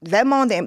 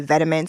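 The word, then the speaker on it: Vetements: is like beautiful boot vmon they had a run at one time when they were like lit well some people may say vamin but that's not how it's pronounced but that's what these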